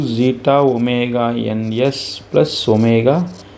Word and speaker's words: zeta: Zeta, we have to pronounce this as zeta.